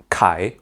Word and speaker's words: 凯: And then Kai rhymes with Kyle.